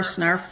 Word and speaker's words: Snarf: And I always, because it's Snarf rhymes with ARF, and I go, no, but they do like it.